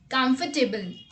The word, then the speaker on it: comfortable: in our list is comfortable. This is also one of the most confused word as well. Most of the people pronounce this word as comfortable, but actually it's not comfortable, it's comfortable.